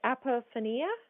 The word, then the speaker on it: apophenia: I'm pronouncing it right M or from not pronouncing right apophenia yeah yeah yes so I work with them